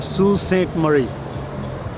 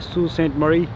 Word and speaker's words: Sault Ste. Marie: इस शहर का नाम है सू सेंट मरी। स्पेलिंग आप देखेंगे तो डिफरेंट लगेंगे, लेकिन ये फ्रेंच नेम है सू सेंट मरी।